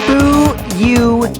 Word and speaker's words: Fuyuhiko: My first name is pronounced Bu-Yu-Hi-Ko.